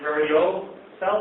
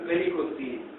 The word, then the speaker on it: varicocele: Well, I was diagnosed with bilateral hernia, and also had hydrocele and variocele, I think it's pronounced. Varicocele. Varicocele. Bilateral varicocele.